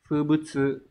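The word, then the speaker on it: 風物: Chữ Hán là chữ phong và chữ vật, từ này đọc là Fubutsu.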